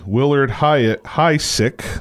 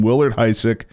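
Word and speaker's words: Willard Huyck: the co-writers of American Graffiti, Willard Hysick, I think that's how you say his name, Willard Hysick, and his wife Gloria Katz, they co-wrote American Graffiti.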